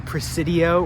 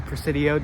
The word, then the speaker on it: Presidio: here there's a fountain we are now in Presidio or the precidio depending on how you say it and we're